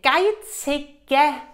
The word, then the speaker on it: geizige: Und zwar, geizige, ja, in diesem Satz, so eine geizige Frau. Und der Mann sagt geizige, nicht geizige, weil hier ist noch ein Buchstabe.